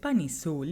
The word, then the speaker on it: Ban Heesoo: The name itself is very interesting, here, because depending on how you pronounce it, Ban Heesoo literally sounds like Bunnies, thus reinforcing the idea that the girl is a representation of fans themselves.